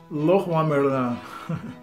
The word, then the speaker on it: Leroy Merlin: And Le Roi Merlin. I was amazed, seriously, because I have no idea that was the right pronunciation.